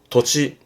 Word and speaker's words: 土地: 도치. 그렇죠?